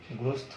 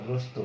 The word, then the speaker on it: গ্রস্ত: যদি তুমি গ্রস্ত বলতে, গ্রস্থ, তাই না, বিপদ গ্রস্থ, তাহলে এটা কিন্তু তোমার গ্রস্থ তো না, গ্রস্ত, বিপদগ্রস্ত, এটাও ত, তাহলে এটাও কিন্তু গ্রস্ত, গ্রস্ত এরকম হতো।